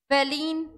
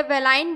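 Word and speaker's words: valine: दूसरा होता है वेलिन या वेलाइन बोलते हैं, एलेनाइन वेलाइन या एलेनिन वेलिन भी बोल सकते हैं, प्रोनाउंसिएशन डिफर करता है।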